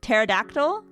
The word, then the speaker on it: pterodactyl: I was like the P is silent. Really? I did not know that. Pterodactyl.